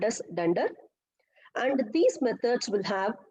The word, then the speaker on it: dunder: Now let us see something known as a dunder or magic methods. So either we can pronounce this as a dunder or otherwise a double under.